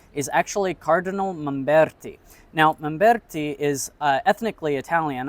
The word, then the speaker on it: Mamberti: Now, Mamberti is ethnically Italian. I'm pronouncing his name in the Italian way, but he is a French cardinal who was born in Morocco.